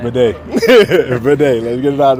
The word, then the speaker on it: Badie: So Tyler Badie, that's how we need to make sure we go forward saying it.